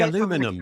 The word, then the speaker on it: aluminium: or meor um however he doesn't like the way I say aluminium because he finds that offensive it's spelled so different it is he got an eye in it you say aluminum but you don't no what is it you're missing aluminium you don't have the I between the n and